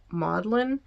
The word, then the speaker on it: Magdalen: It's spelled Magdalen, but it's pronounced Maudlin, and he was a fellow there from 1925 to 1954.